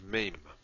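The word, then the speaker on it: מם: After Lamed, we have Mem. Mem has a vertical component and a rounded component. So Mem, and Mem is the M sound, as in man.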